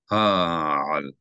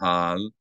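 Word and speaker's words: הַעַל: Ha'al. Ha'al. You should hear two distinct syllables, not hal, not hal, but ha'al. If you see two vowels in a word, that means there are two distinct syllables.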